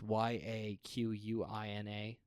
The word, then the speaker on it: Yaquina: Apparently, the Yaquina, I believe that's how you pronounce it. It's Yaquina. Okay. But Yaquina Head Lighthouse in Newport, Oregon, was also used